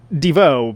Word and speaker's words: Devo: of Divo and again I'm saying Devo because I believe that's how you're meant to say it right when it became a